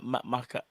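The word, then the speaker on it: Makhachev: Do you see the way how Shamaev, you see the way how how do you pronounce his name? Makachev.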